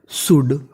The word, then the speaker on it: should: आगे वाली मीनिंग को देखते हैं, SHOULD। इसे पढ़ते हैं हम लोग शुड, शुड। इसमें हमारा एल साइलेंट रहता है तो मीनिंग बन गई शुड।